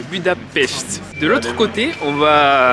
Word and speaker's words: Budapest: Parce qu'on ne dit pas Budapest, on dit Budapest.